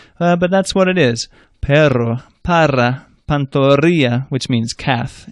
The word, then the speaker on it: perro: And a double R is a trill. Rrr. It takes practice. You're blowing air over the tongue. It took me about a year to learn how to do it, actually.